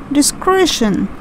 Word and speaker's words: discretion: one discretion discretion okay it's a three syllable word and we pronounced it as discretion it's basically shun at the end the next one it's